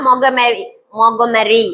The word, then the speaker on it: Montgomery: அது எப்படி ப்ரொனவுன்ஸ் பண்றாங்க அப்படின்னா மொகமெரி அப்படின்னு சொல்றாங்க. மொகமெரி அப்படின்றாங்க. மொகமெரி அப்படின்னு சொல்லுவாங்க.